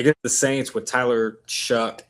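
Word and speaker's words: Shough: Um, I guess the Saints with Tyler Chuck, I always say his name show because it's spelled like show.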